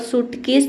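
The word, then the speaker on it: suitcase: सूट मतलब होता है अनुकूल और सूटकेस में भी आई लेटर साइलेंट है।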